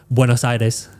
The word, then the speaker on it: Buenos Aires: Like when we go to Buenos Aires, that's how you say it.